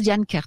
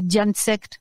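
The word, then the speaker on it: Dian Cecht: Donc, c'est Diane Kert. Ça s'écrit D-I-A-N-C-E-C-H-T. Hein. Et ça se prononce Diane Kert. Je le dis parce que comme on prononce... sinon, c'est Diane Sect, hein, si vous préférez.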